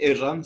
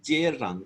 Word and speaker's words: yerran: Bueno, no se dice erran, sino se dice yerran con Y.